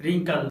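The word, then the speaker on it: wrinkle: जब letter W के बाद आर आता है तो लेटर डब्ल्यू साइलेंट होता है, जैसे रैप, रिंकल, राइट, रीगल।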